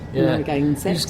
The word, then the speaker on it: Narragansett: I can't pronounce that one. Narragansett. Yeah. Narragansett.